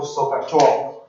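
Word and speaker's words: SOHCAHTOA: Okay, which is pronounced, okay, when people say it, it's called Sokatoa.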